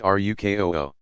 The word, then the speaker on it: ruku: From 2 to 4 cycles of standing, bowing to place hands on knees, ruku, pronounced rukoo.